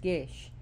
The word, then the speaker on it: geis: of The Prudent Church however she has a Gish a geish which is spelled g-e-i-s-e but it's pronounced Gish and her gesh which means taboo and now